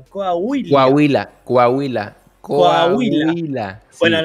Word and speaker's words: Coahuila: ¿Cómo se pronuncia? Coahuila.